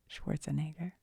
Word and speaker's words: Schwarzenegger: I feel like I said his name wrong and it sounded really bad. Schwarzenegger.